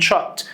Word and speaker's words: chopped: ضعف البي ونضيف لها ed chopped، الed هنا بتنطق تي.